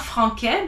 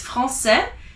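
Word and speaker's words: français: like an s c so francais is not frank but it's francais because it has assisted z so let's start with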